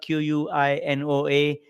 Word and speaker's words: quinoa: uh high fiber whole grain uh again quinoa q-u-i-n-o-a quinoa is how we pronounce it uh and then protein breads are